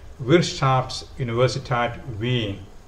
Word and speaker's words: Wirtschaftsuniversität Wien: Vienna, which is the university is also is pronounced in German as Wirtschaftsuniversität Wien, should be in your bucket list of choices